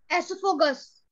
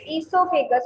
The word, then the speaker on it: esophagus: Esophagus. No, it is not the correct pronunciation. What you are saying is correct, but the pronunciation. Esophagus. Asma, on your video. Smart, switch on your video. Yes, speak again. Esophagus. Yes, very good. It is esophagus.